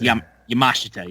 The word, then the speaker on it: Yamashita: Yamashita. Yeah. Yeah. Um I was just going to say cuz Yeah. I always want to say Sheita, but I know that's not right. It's Yamashita.